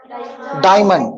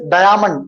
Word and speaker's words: diamond: Diamond. Okay, nobody says diamond. Diamond कोई बोलते क्या? Okay, here A is silent.